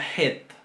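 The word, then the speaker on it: חית: Después tenemos la het. La het. Esta letra, este sonido se va a pronunciar un poco más atrás que la G y es más fuerte.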